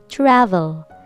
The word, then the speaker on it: travel: lips together trouble trouble but this is v sound okay so you have to touch the upper teeth to your lower lip v sound travel this is travel this is trouble they're